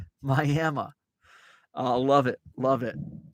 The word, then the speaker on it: Miami: will be drawn and quartered if you don't pronounce it Miami Miami uh love it love it that's kind of